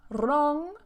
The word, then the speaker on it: wrong: And careful with the pronunciation of that R. It's not wrist, road, wrong.